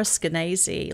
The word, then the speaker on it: Skenazy: It rhymes with crazy.